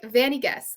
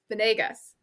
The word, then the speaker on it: Venegas: It's like Vanigas, Venegas. Sounds right. Venegas? Oh, Venegas Venegas. sounds right. Venegas. Teresa Venegas. I literally put phonetically how I was supposed to pronounce it because I was like, when I read it, my American brain is going to say Fanny Gus, which is not it.